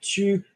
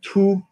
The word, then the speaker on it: tout: We're not saying tu, we're saying tout.